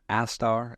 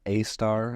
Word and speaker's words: Astar: The pronunciation, Astar, A-star, I just want to get that right. I think one of my Japanese colleagues says it's decentralized, so you could say A-star or Astar, however you want it.